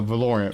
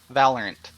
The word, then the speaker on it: Valorant: or um Halo or just whatever or uh valorian valorient will be another good one no it wouldn't because that game doesn't exist it's DeLorean not a game valorant learn pronunciation oh Lord anyhow sorry yeah I